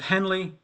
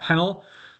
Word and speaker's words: Henle: the loop of Henley it should be pronounced Henley I understand not henel um is the loop